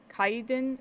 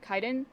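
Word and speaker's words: Kaidan: the thing is um the movie can also be called um kaiden kaiden which is k-a-i-d-a-n um as a normal and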